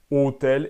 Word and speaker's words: hôtel: Il y a seulement l'accent circonflexe qui note une prononciation de O fermé. Hôpital, hôtel.